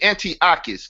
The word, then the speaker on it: Antiochus: speak again no he's how do you say Antiochus because that's the name so people will know